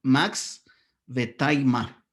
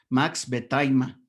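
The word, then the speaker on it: Max Wertheimer: El segundo se pronunciaría Max Vetaima, para que lo pronuncies adecuadamente cuando lleguen a comentarlo o a exponerlo, ¿no? Max Vetaima.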